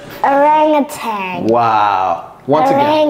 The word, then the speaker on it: orangutan: I didn't even know how to pronounce it, but now I do. All right. Orangutan. Wow. Once again. Orangutan.